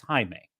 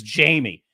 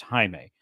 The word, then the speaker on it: Jaime: scene in the scene he audibly said my name is Jaime and she says Jamie and that he's it's pronounced Jaime and they said okay Jamie we're gonna it's it's